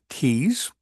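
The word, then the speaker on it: Tews: But she sponsors this episode that is spelled TE WS, but I think it's pronounced like T's.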